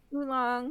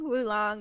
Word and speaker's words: oolong: yeah, the first character is pronounced oo or woo, so it's either way. I Oh, guess okay. oolong, wulong.